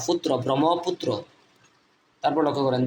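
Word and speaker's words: Brahmaputra: ম্রম ফি ইউ টি ফুত আর র পুত্র ব্রহ্মপুত্র তারপর লক্ষ্য করেন দি কর্ণফুলি কে এ আর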